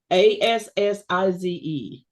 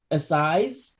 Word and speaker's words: Assize: and I forgot to look up how to pronounce it. Assize. Assize.